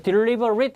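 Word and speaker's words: deliberate: 되겠습니다 발음 잘 하세요 얘가 발음이 at는 발음이 at로 발음되면 그런 동선이에요 근데 딜리버릿 이렇게 발음되면 그런 형용사가 되고요 얘는 고의의 또는 신중한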